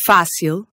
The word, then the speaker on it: fácil: Rule 1. If a word has a vowel with a diacritic or an accent mark on it, then that syllable is going to be stressed. So if you see an acute accent, Like in fácil.